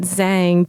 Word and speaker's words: Zhang: whole thing is that I always tell people to pronounce it Zhang because for me I